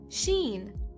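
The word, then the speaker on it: شين: The next letters of the alphabet are Sin and Sheen. Sin is equivalent to the letter S. Sheen is equivalent to the combination SH.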